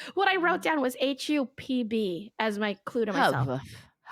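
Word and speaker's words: Höfn: It's spelled HOFN, and neither the F nor the N is in the word. Oh. It's like hup. Hup. It's like you're just breathing.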